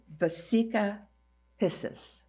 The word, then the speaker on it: vesica piscis: It's called the I want to pronounce it correctly. vesica piscis, the holy almond, the sacred geometry formed by two circles overlapping and containing the center of the other.